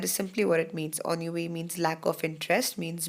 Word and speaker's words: ennui: Even though it's written as Ennui, but it's pronounced as ennui.